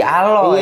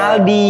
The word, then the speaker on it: Aldi: D-nya kayak O, huruf gede. Jadi Oh. D-nya huruf A gede, L gede, D gede, Y gede. Dibacanya jadi Aloy. Iya. Harusnya mah Aldi.